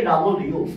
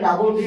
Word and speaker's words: W: অথবা এভাবেও দেখবেন কিন্তু উচ্চারণটা কি প্রোনাউন্সিয়েশনটা কি প্রোনাউন্সিয়েশনটা হচ্ছে ডাবল ইউ ডাবল ইউ হ্যাঁ কয়েকটা ভাষায় এটাকে ডাবল ভি উচ্চারণ করে যেমন ফ্রেঞ্চ তারপরে স্প্যানিশ কাতারিয়ান এবং